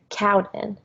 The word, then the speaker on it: Cowdin: Like Codwin, I'm like, no, Cowden.